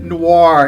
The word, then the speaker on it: noir: Noir, it's pronounced noir.